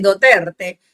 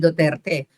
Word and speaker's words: Duterte: na presidente na si Duterte. Si Duter ba Dertch? Okay. Dutert yung bigkas niya ng mga forer hindi Duterte.